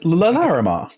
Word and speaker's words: Larimar: I'll give you L'Oreal Lamar, but it's Larimar.